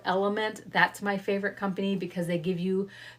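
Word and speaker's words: LMNT: to bring back in that company is called element and they spell it like this l m n t element I think I have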